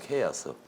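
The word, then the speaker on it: chaos: 그냥 이게 혼돈, 컨퓨전이 아니고 케이아스, 영어로 하면 케이아스, 발음이 케이아스 이러니까 카오스란 말이에요. 우리는 카오스 그러잖아요.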